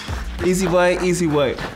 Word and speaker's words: Ehizibue: Kingsley Ehizibue, nickname Easy. Here's some help if you have problems pronouncing his surname. Ehizibue.